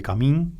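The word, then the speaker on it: Kamin: Una película de Bebé Camín, si no me equivoco se pronuncia así, se acentúa así el apellido, que a la vez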